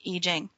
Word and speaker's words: I Ching: Now, there's a book that many of you might have heard called the I Ching. It's I Ching. It's spelled I Ching in English, but the Chinese pronounce it I Ching.